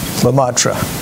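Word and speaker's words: Lemaître: physicist george lumatra and that's spelled l e m a i t ari lamatra and basically he's a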